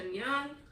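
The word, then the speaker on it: Ngan: was girls of storm and Shadow by Natasha and Young that's how you pronounce that and this is the second and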